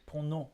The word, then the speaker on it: pronom: No, pronom. I guess you don't even need to say the M.